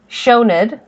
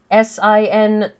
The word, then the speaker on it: Sioned: For the record, S-I or S-E in Gaelic is pronounced as an S-H much of the time. That's why the name Sean, S-E-A-N, is pronounced as though there's an H in there.